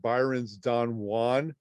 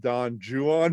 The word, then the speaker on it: Don Juan: and you'd read it byron's don juan but we pronounce it don juan because that's a bad rhyme in it he rhymes it with true one and new one and juan you know so that